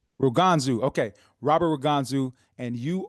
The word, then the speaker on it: Ruganzu: Ruganzu. Ruganzu.